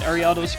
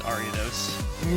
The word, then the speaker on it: Ariados: Ruby, I believe that we put different emphasis on different syllables of that spider. I think I just mispronounced it. It's Ariados. No, not necessarily. I think it can be both, but it's like if you're going more traditional-ish, you would space things out differently than the way we pronounce it typically.